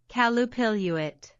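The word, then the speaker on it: Qallupilluit: Because this is how you pronounce it, folks, okay? Calupiluit.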